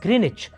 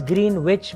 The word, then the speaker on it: Greenwich: then at a place in the UK called greenich now it's written as green wit but it's pronounced greenich for some reason I don't know